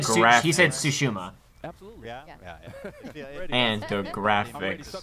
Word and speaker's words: Tsushima: How do you pronounce? Huh? And he said Tsushima.